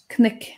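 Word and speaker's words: cnoc: Now, Hiwan, I said knick and knittal, and I'm very sure that you would pronounce those differently. That's correct. I'd be more inclined to say crook and crital.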